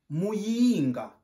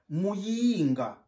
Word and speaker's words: Muyinga: On prononce Muyinga. Tu répètes avec moi. Muyinga.